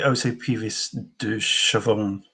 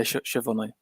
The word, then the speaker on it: Puvis de Chavannes: Puvis de Chavannes, or I've heard it pronounced in a variety of different ways. I would say Puvis de Chavannes. Chavannes, sorry. Yeah, Chavannes. And we talked about Moreau